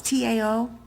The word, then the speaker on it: Tao: Parents Tao is T-A-O, but they tell me it's pronounced Tao.